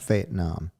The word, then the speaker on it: Fayetteville: Carolina okay Fayetteville North Carolina and uh it's pronounced fate Nam oh yeah um found myself uh drinking like